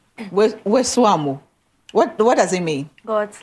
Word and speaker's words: Wesoamo: Okay, how do you pronounce the middle name? Wesoamo. Wesoamo.